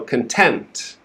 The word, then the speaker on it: content: comfortable and happy okay we're stressing the second syllable so content content the first syllable is quick com and then tempt content okay this is not